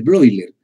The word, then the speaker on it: Bleuler: son las as de broiler broilers se escribe bleuler celebro y leer porque el alemán y son cuatro as